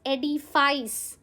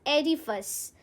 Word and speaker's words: edifice: It's not pronounced as edifice. It's pronounced as edifice. Edifice, guys, noun है, ठीक है?